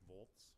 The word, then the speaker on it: Volz: and vice chair uh the name is Boltz thank you so we will then go ahead